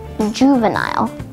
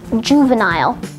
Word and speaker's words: juvenile: And now, more information about juvenile. Let's learn together one word a day with Akash's word of the day. Today's word is juvenile. There are two alternate pronunciations for juvenile. Juvenile, juvenile.